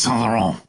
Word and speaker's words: Saint Laurent: Yeah, it's Saint Laurent. That's how they say it in the commercials.